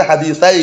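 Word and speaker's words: حديثي: Illa kecuali maja'a min hadisai, bacanya hadisai gitu ya. Kecuali yang datang dari dua hadis, karena asli hadisai ini.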